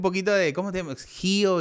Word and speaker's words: Hio: Gio. No, me gusta, pero se pronuncia, bueno, se escribe Gio, ¿no?